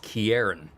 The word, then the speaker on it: Karin: always has her reasons your name is pronounced Karin sure I can remember that